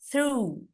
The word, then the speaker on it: through: Ini juga through. Through. G-nya nggak dibaca. Through. Through. Sampai ini. Sampai OU-nya cukup. Through. Through. Jadi bacanya through.